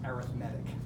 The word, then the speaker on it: arithmetic: one term to the next that's called an arithmetic sequence I know it spelled the same as arithmetic but it's pronounced arithmetic just is we'll spend a lot more time